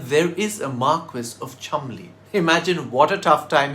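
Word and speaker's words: Cholmondeley: If you think that the name of this place in northwest England is pronounced Chalmonde, you're completely wrong. It's pronounced Chalmonde.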